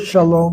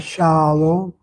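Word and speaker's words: שלום: The word is not shalom but shalom. Shalom. Shalom. Long vow closed syllable always must be accented.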